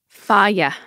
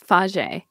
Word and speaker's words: Fage: Faya. Faya? I'm on Faya? I used to think it was Faje, but it's Faya. Is it like Faya?